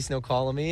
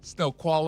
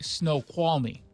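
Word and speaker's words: Snoqualmie: up here and see snow colony." And then it's call me dummy. You had an extra syllable colony and see snow colony and snow qual.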